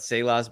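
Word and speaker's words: Saleh: stallion Breece Hall, and your great defense that Salah's been, pretty much keeping on top of the NFL. I believe it's pronounced Salah.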